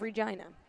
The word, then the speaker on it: Regina: She plays out of Regina. Oh, okay. Very good. The city that rhymes with fun.